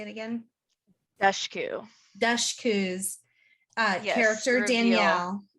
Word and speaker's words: Dushku: Dushku.